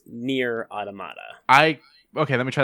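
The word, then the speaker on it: Nier: Automata: console - correct and I like the way you pronounced it but it's near automata I okay let me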